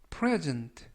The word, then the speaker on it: present: present present라고 발음하시면 되겠고요 이때 유의하실 점은 강세가 앞부분에 있는 알파벳 2의 강세가 있습니다 그래서 present라고 발음하시면 되겠고요 만약에 강세를 뒷부분에 있는 알파벳 2에 강세를 두면 present present라고 해서 동사가 됩니다 그래서 present라고 발음하시면 품사가